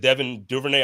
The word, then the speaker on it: Devin Duvernay: I know this year, what is it, Devin Duvernay?